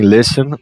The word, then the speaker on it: listen: Então eu venho aqui, lembre-se, em listen tá mudo, são duas sílabas, né?